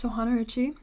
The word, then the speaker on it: Sohanna Ricci: one what is your name my name is soan Richie and that's how you pronounce it um okay number two what is